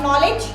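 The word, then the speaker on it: knowledge: अगर mister K N sound के साथ कोई न स्पेलिंग स्टार्ट करें तो हमारे K को सांप सूंघ जाता है, यानी K का कोई साउंड नहीं निकलता है. बिलीव नहीं हो रहा? बताइए, स्पेलिंग ऑफ नॉलेज KNOWLEDG, क्या उसमें K साउंड आता है?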